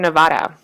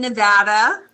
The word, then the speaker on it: Nevada: to really dig into what is Study Northern Nevada. Okay. Um, actually, I'm going to do this. Cheryl, go ahead. Take it away. Well, okay. First of all, I'd like to say we live in Nevada.